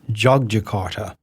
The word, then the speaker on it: Yogyakarta: Indonesia the other is yogart y o g y a k a r ta which is sometimes pronounced jogjakarta which is a different